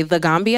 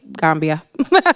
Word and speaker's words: Gambia: So a lot of people say the Gambia, and I think that's the proper way to say it, but Gambian people are just like, Gambia. We just say Gambia.